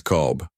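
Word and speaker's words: قلب: It's qalb, which means heart. But you have to make the Q sound deep in your throat like this.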